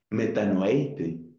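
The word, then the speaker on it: μετανοεῖτε: Metanoeite, metanoeite, antes lo pronuncié mal, metanoeite, caipistéuete en tu evangelio.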